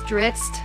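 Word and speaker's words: Drizzt: I'm still more into game play, but yeah, I just named my first character Dusit or I guess Ditz is the correct pronunciation, but it's from like these fantasy novels, Dungeon of Dragons.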